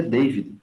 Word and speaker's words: David: David se pronuncia David, mesmo porque o A em inglês tem som de EI, algumas vezes.